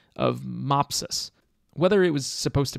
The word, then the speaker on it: Mopsus: Whether it was supposed to be Mopsus or Mopsus, I'm not sure. Okay, I actually looked this up while recording, and as she says, it's based on some Greek mythology, so the pronunciation is actually Mopsu.